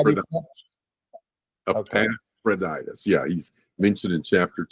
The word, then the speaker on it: Epaphroditus: Epaphroditus. Yeah, he's mentioned in chapter 2. Yeah. So imagine them. Well, Epaphroditus doesn't die.